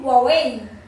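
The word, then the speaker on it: Huawei: जा रहे हैं हम, नहीं हवाई नहीं है, ये है वावई वावई वावई वावई वावई वावई वावई। पता है ये जो लिखा हुआ ये नहीं है, कुछ और ही है इसका प्रोनाउंसिएशन, पर इससे लग रहा है कि हवाई है पर वावई, क्या कर सकते हैं।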